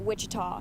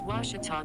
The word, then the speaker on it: Ouachita: at a baptist university back in texas everybody pronounces it wichita but really it's ouachita washington washington how would you pronounce it it's washita baptist university get it right it's water tall